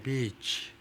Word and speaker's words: beach: Bonding in Bondi Beach. 이 Bondi Beach에서 그 인연을 맺기요. Bonding. 인간관계를 맺기. 인연을 맺기. 이거요. 비치를 짧게 발음하면 비치가 돼버려요.